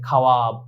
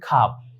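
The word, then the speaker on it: خواب: যেমন আমরা স্বাভাবিক অর্থে এটাকে বলতে মন চায় খাওয়াব, কারণ খে আছে, ওয়াও আলিফ বে, খাওয়াব, এটা মন চায়, কিন্তু মন চাইলেই হবে না, সঠিক উচ্চারণ হচ্ছে খাব, খে ওয়াও আলিফ বে।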